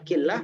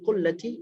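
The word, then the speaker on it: قلة: dia itu berada pada, ada yang bacanya killah dan bacanya kullah. La'alla shawab bacanya dalam kullati jabalin.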